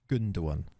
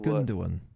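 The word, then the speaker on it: Gündoğan: Ilkay Gundogan. Gundogan. Make the G. See the little thing on the G. It's Turkish, isn't it? It's a y sound, not a.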